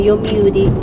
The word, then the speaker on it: Yomiuri: May isang bigkas lang yung Yomiuri. Yomiuri. Yomiuri.